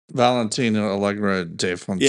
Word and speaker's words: Valentina Allegra de Fontaine: Valentina Allegra de Fontaine.